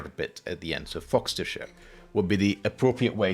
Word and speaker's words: Fogcestershire: Lester or lerer uh you don't have to try and worry about how it's written just focus on the eser bit on the Sher bit at the end so foxer share would be the appropriate